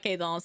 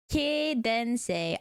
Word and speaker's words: quédense: It's not quedance, is it? Quédense. Ah. Por favor, quédense conmigo. Yes. And then who knows, that might just be your thing. Who knows, you'll like me. Works too. Gotta pronounce all the vowels.